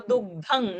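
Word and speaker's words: दुग्धं: So dugdhang, not na, ng.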